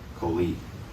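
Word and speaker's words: קוֹלִי: Just like how we stole the aleph to put on the beginning, all we're doing is we're stealing that E sound from ani and put it on the end. Koli.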